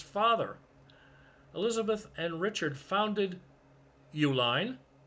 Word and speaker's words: Uline: Elizabeth and Richard founded Uline. different spelling than their name. The company that was founded was spelled U L I N E. Same pronunciation, but it's a shipping supplies company.